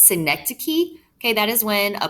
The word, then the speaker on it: synecdoche: i sound this is a tough one to pronounce synecdoche okay that is when a part is made